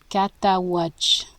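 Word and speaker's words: Cataouatche: And somewhere between the Mississippi River and Lake, how do you pronounce that? Lake Catawatch.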